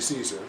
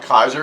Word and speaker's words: Caesar: Roman which would be Caesar but you know not Latin. It's pronounced Kaiser everywhere. Yeah, it's pronounced Kaiser everywhere.